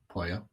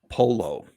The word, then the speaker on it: pollo: Yep, Do you know what Italian is for chicken? pollo. Polo. Hmm, They don't say the L's like they do in Spanish.